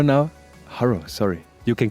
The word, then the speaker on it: Harro: uh yeah surprisingly I'm sitting here with uh horo now Haro sorry you can call me Harry doesn't matter